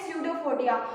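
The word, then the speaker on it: pseudopodia: इसे ये जो ऐसे ऐसे निकले हुए ऐसे ऐसे इसके लहर जैसे, इसे अपन क्या बोलते हैं, स्यूडोफोडिया। और यहाँ पी साइलेंट होता है, याद रखना, ठीक ना।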